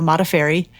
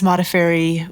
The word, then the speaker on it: Modafferi: Uh, that is the correct way to say my last name. Uh, Mafairy. And I use Modafairy when I'm in the fight world.